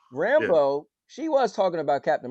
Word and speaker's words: Rambeau: So Rambo, am I saying her name? How do you say her name? Yep, Monica Rambeau. Rambeau.